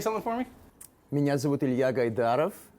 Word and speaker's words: Ilya Gaidarov: Joining me today is Ilya Gaidarov.